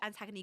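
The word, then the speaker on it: Antigoni: No, it's Antagony. Yeah, I agree. I wish Antagony got with Jay at that point.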